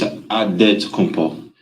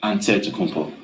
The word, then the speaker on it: Antetokounmpo: The Nigerian way, you gotta say with the D, so it's Antetokounmpo. But in the Greek way, you say with the NT, like Antetokounmpo.